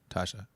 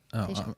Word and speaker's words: Tayshia: Tasha. Is it Tasha or Tasha? Tay. Oh, Tayshia. I'm wrong.